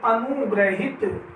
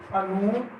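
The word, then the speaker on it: अनुगृहीत: आगे देखिए अनुग्रहित। अनुग्रहित, तो इसका हो जाएगा हमारा अनुगृहित।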